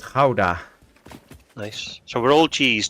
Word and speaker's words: Gouda: Thanks for that, because I didn't know that's how you say it. I've always said Gouda, but yeah. Yeah, it's a Dutch town, and we call it Gouda.